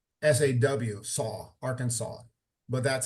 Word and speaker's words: Arkansas: of the state of Arkansas from the introduction of class the S is silent Arkansas so it it sounds like sa aw saw Arkansas but that's how it's